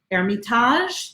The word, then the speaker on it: Hermitage: Shiraz surah surah qamar' Sanwa Armitage which is spelled Hermitage Hermitage rose Armitage cornice coach grote a and so st.